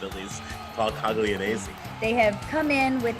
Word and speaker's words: Coglianese: Paulie Cogs, Spicy Boy, Jonathan Rodriguez, Coglianese. That's how I pronounce it, at least. Paul Coglianese.